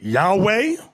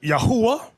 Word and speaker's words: Yahweh: Now, depending on your form of Hebrew, you have some people pronounce it Yahweh. Another group pronounce it Yahuwah.